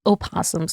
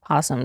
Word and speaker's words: opossum: Apparently, they're called opossums, not possums. Yeah, because it's spelled with an O.